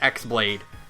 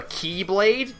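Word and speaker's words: χ-blade: on them so we just call it the X blade or it's technically called the keyblade because that's how you pronounce it but even xehanort himself says people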